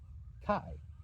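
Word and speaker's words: καί: e but it isn't these two vowels come together and they're pronounced as i k like I high might remember that from the English word that might help that definitely helps me remember k I I Kai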